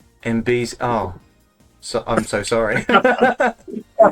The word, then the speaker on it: Enby: I tell you that my name is pronounced NB NB oh so I'm so